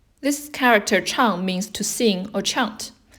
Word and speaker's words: 唱: The pronunciation is 唱, 4th tone. It sounds very similar to what's on the right-hand side, which actually indicates the pronunciation. This character chang means to sing or chant.